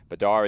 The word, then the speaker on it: Badar: a chance to ask badar mesar the correct pronunciation of his name he said badar is good so that's what we'll go with definitely not Bader is what I was told